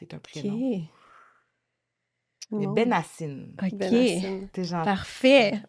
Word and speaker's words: Benhacine: C'est Benassine. On ne Benassine. prononce pas le H quand on le prononce en français. OK. Mais, si jamais tu veux le prononcer en arabe, OK. c'est Benhassin.